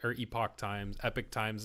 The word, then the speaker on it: Epoch Times: I see Epoch News in there as well, but it's like, or Epoch Times, Epic Times is how they pronounce it.